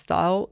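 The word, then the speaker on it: Styal: was in hmp style I think it's pronounced style um in chesher and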